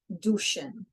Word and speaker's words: douchen: is the ow, but because this is a French word, we have to say it as an oo, like the French do. Douchen.